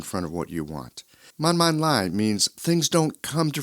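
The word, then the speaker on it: 慢慢來: Taiwanese friends telling me, man man lai. Let me break this phrase down for you. Man, that's pronounced with a fourth falling tone.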